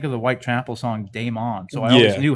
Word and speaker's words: daemon: they're called they're called demons but they're spelled daemon it's spelled d-a-e-m-o-n that's damon yeah like damon it's not demon and like the dude